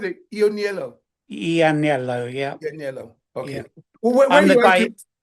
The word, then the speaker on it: Ianniello: Yeah, Is that how you pronounce it? Ianniello. Ianniello, yeah, Ianniello.